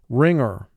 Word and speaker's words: wringer: Row 2, wringer. Wringer. She really put me through the wringer. Wringer. First syllable, ring. 3 sounds. R, I, ng.